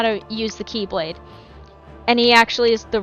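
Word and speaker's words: χ-blade: And by the Keyblade is pronounced It It It's pronounced Keyblade, but it's spelled Xblade.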